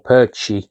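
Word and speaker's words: Pécsi: So um we brought a young um goalkeeper Armen um uh Persi or Perchie as he's pronounced for I think we paid 1.5 million 2 million uh from the Hungarian team that he was playing for.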